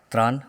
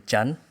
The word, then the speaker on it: Tran: my name is Tran or actually Chan which I found out just a few months ago which is the right way to pronounce my name and I have a